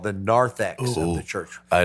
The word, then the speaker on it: narthex: at what's called the narthex of the church. I like what I'm hearing. It's at the Narthex? I of the love church. narthex. Oh, Narth, not north, narth.